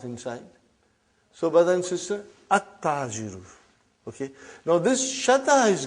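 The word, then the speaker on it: التاجر: Compare that to Ta. We come to Ta now. How will you pronounce this now? At-Tajiru. You did not pronounce Al. You did not pronounce Lam. Okay, you did not pronounce. You skipped it.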